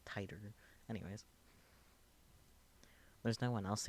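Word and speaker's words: Titor: Titter. I said it correctly. How dare I? I've been saying it wrong on purpose. Titter is a lot funnier than the correct Titer.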